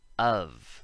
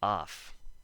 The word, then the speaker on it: of: Oven, cover, shovel, hover, govern, government, and of. This is a big one. A lot of people say off. If you say off, stop it.